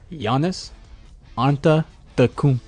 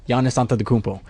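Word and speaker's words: Giannis Antetokounmpo: like it was like this is how you say my name Yanis anta the coop oh and and then he was like he said it in full motion was like Yanis onto the cumple so that was called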